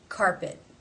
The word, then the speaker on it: carpet: It ends the word. It is not part of a consonant cluster. Therefore, it is a stop. Carpet.